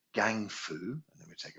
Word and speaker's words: gang: into two parts and the first part of it is gang g-a-n-g gang and then we melt